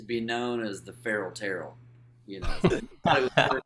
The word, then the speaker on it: Terrell: Well, T is for Terrell, man. Y'all remember that. I'm saying it right. A lot of people say Terrell, you know, and that's why I start.